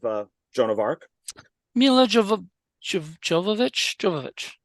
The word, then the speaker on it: Jovovich: mispronounced my last name it's holovich so I guess in America it's drollovich but in over like in Europe and stuff it's holovich the J is pronounced but that's how she